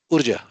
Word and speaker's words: Urja: How do you pronounce that? Urja is correct.